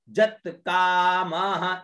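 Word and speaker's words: जातकामः: में पावित्र पूतस्य फिर जत कामः इसको ज का उच्चारण करेंगे य के अंदर जो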